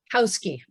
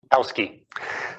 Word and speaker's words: Hauschke: Hauschke. Hauschke.